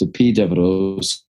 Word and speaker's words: Epidaurus: And we won't talk about all of them, but in particular, I went to Epidaurus. It's spelled up Epidaurus. It's pronounced Epidavros, which was the main Asklepian healing sanctuary of ancient times.